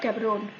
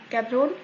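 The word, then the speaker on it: Gaborone: चलिए, आज का हमारा पहला कंट्री है बोट्सवाना, ठीक है, और इसका कैपिटल है गैबरोन। गैबरोन या गब्रोने दोनों प्रोनाउंस किया जाता है, आप देख लीजिए आपको जो भी सूटेबल लगे, ठीक है।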